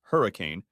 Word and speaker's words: Hurricane: To top it off, the Moody Center was hosting a Florida-Georgia Line concert, and Henry Can, pronounced Hurricane, had 2 front-row tickets to the show for him and his wife Melanie.